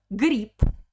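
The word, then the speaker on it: гриб: grip grip grip because at the end of the word all russian consonants have a weak position so all voice consonants become voiceless so becomes per the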